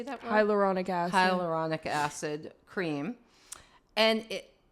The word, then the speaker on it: hyaluronic: So I was I looked at a cream last night that's some sort of firming and huronic acid. I can't even say it. How do you say that word? Hyaluronic acid.